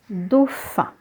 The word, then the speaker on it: dauphin: Dauphin, le dauphin. So in dauphin, you have AU, which is pronounced as O. So always remember AU will be pronounced O.